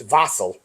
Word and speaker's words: wassail: little bit about your wasle yes so uh traditional wasle is what we say in Americas of course uh it's traditionally a German drink uh pronounced vassel um and uh it